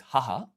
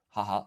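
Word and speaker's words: 母: So this one is haha, haha. So the pronunciation is completely different, but the kanji is actually the same.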